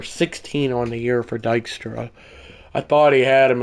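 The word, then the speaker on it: Dykstra: It's pronounced Dystra.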